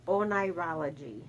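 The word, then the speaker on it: oneirology: life what is dreaming it's pronounced onology what the hell is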